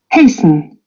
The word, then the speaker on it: hasten: Hasten. Hasten. Yeah. Hasten. They don't. They don't any longer pronounce the T.